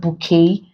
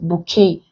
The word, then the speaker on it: bouquet: these options we have bouquet vote washed and tender so you pronounce pronouncing it's called that this doesn't have consonant T you see here is silent bouquet but this is vote